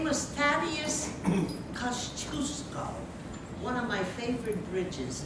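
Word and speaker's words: Kościuszko: His name was Thaddeus Kosciuszko, one of my favorite bridges in Brooklyn, going under construction now. Anyway, Kosciuszko, which is another way to pronounce his name, he was a rebel.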